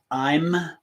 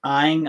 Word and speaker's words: Aim: So our mantra for today's practice is I'm, sometimes pronounced AING. I tend to use the AING pronunciation myself because that's how it was taught to me by my guru, but you can use either pronunciation that you're comfortable with.